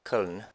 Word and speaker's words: Köln: Oh, hey Cologne. Pronounced Köln if you want to get technical.